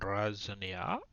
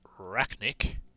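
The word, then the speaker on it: Arachnarok: so we're going to replace him with a razzaniac sorry racknick i've been pronouncing that wrong the entire time oh makes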